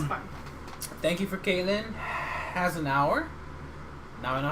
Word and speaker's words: Hasenuar: Hasenuar. Now I know how to pronounce the show how to pronounce your name if I'm ever hosting.